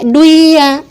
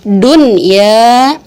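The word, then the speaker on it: دُنْيَا: Enggak kita baca duya, enggak kita baca siwanun, enggak kita baca qiwanun, enggak kita baca buyanun, tapi tetap dibacanya dun ya, terus shin wa nun, qin wa nun, bun ya nun.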